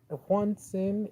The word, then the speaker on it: Juantzin: Juantzin is perfect. I don't mind, and it's actually the way you pronounce it, really.